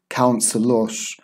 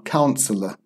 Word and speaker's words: counselor: This OR, it's not pronounced like the Turkish teachesh, counselor. It's just pronounced There's no R. Counselor, teacher, photocopier. However, in American English, they may have a very small R sound.